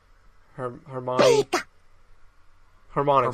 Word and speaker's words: Harmonix: Harmonics.